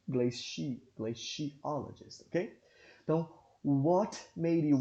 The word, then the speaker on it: glaciologist: Não, nesse caso aqui ele não deu, mas se vocês quiserem pesquisar, vocês vão observar que a pronúncia é glaciologist e não glaciologist, ok?